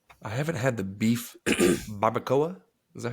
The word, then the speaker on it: barbacoa: I haven't had the beef barbacoa. Is that how you pronounce that?